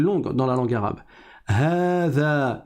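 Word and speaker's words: هذا: Hada, il faut prolonger.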